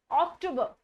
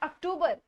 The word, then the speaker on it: October: अक्टूबर. नॉट अक्टूबर. इट्स अक्टूबर. अक्टूबर. ओ पे ज्यादा जोर डालना है. इट्स अक्टूबर. After that it's not November.